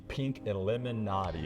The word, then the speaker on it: Pink Lemonati: It is the Pink Illuminati is how it's actually pronounced.